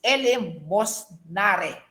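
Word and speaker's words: eleemosynary: Ang pag-pronounce po nito, class, it's elemosnare.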